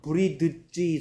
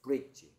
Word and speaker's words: bridge: 그럼 스펠링 불러봐.얘는 발음은 브리드지 소리 날것 같은데 정작 발음은 브릿지인데요. 브리드지가 아니고 브릿지.